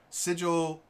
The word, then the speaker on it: sigil: i know it's so technically the official pronunciation is sigil i hate that it's such a dumb ninja it doesn't roll off the tongue very well sigil see the thing with sigel um s i and l are all at the front of the mouth and you pronounce them